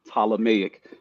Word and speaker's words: Ptolemaic: of me because with the p is silent so PT right ptolemaic uh the ptolemaic model